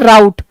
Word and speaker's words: rout: इसकी प्रोनाउंसिएशन क्या है, राउट, और इसकी प्रोनाउंसिएशन क्या है, रूट, ROUTE।